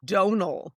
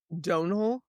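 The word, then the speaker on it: Domhnall: Donal. There's no N. Donal.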